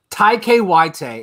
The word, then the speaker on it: Taika Waititi: I'm watching the clip real quick to see how he actually pronounces it. Taika Waititi. Taika Waititi is how he says Taika Waititi.